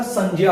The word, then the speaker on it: संज्ञा: कि जो संज्ञा है, ज्ञ है, उसको आम बोलचाल रूप में जो है ग और य के रूप में पढ़ लिया गया है, जिसके कारण उसको संज्ञा पढ़ दिया जाता है। लेकिन वास्तविक जो उच्चारण है इसका संज्ञा होता है।